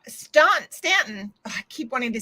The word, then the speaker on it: Staunton: It's pronounced Stanton.